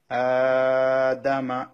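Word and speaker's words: آدَمَ: হামজা খাড়া জবর আ, দাল জবর দা, মিম জবর মা, আদামা। আটা টানতে হবে, দাল টান হবে না, মিমও টান হবে না।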